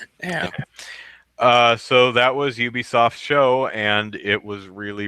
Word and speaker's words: Ubisoft: I have I'm I'm pretty sure it's Ubisoft though because I I think that it's supposed to be UB as in ubiquitous but um yeah uh so that was ubisoft's show and it was